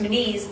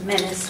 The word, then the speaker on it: Menis: so much heather um my last name is pronounced menis but i carry my ex-husband abusive ex-husband's name and it's actually been known as menace but we'll call it